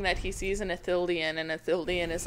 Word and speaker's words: Ithildin: I think he was saying that he sees an Ithildian, and Ithildian is like a treasure that you can collect. Yeah. If I pronounce that correctly. I think you did, Ithildin actually.